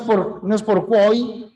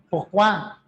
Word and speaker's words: pourquoi: I se pronuncia OI, pero en el francés las mismas letras O, I las pronuncio OA, ¿no? C'est moi, pourquoi, no es por quoi, no es c'est moi, sino pourquoi, c'est moi.